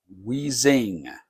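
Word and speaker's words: Uizzing: at least the Dow spelled UI ZZ i n g weezing I don't know how any how any other way to pronounce that and so that's what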